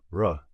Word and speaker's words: ر: lettre de ce groupe RA qui se prononce r mais attention pas un r français c'est un r roulé comme dans certaines langues européennes écoutez bien r un